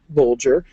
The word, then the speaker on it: Bolger: For example, Bolger has a G as in bulge, and Matham rhymes with fathom.